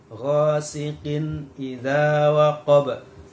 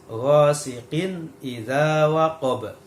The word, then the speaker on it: ghasiqin idza waqab: Nah, ghasiqin idza waqab. Nah, di sini ada kasrotain bertemu dengan hamzah, ya. Kasrotain bertemu dengan hamzah. Maka cara membacanya harus jelas. Ghasiqin idza waqab.